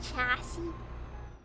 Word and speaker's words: chassis: It's pronounced chassis.